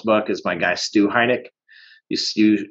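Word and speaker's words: Heinecke: is my guy stu heineck you you spell his name a little bit uh different than you pronounce it h-e-i-n-c-k-e uh e-c-k-e um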